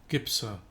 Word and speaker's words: Gypser: Gibser. Gibser. How do you say it? Gibser. Gibser. Gibser.